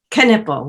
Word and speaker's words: Knippel: last name for me canipel we pronounce the k yes all right very